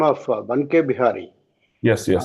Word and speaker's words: Banke Bihari: how this name derived, Banke Bihari. So, Prabhu, as we know that in the North India, Va is pronounced as Ba. Ba. So, one means Ban. Banke Bihari.